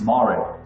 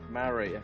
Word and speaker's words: Mare: Actually, it's Mare. Mare, okay.